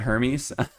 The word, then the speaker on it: Hermes: I know there are a bunch of different ways to say this. I'm going to be an American and just say it Hermes.